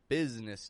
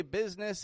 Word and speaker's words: business: why we call these business days. Now, much like Wednesday, business is not spelled the way that it's pronounced. The S changes to a Z, and the I that's in the middle disappears altogether.